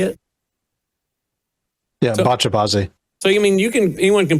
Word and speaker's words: Bacha-bazi: Yeah, Bacha-bazi.